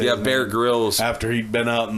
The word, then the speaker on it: Bear Grylls: Yeah, Bear Grylls.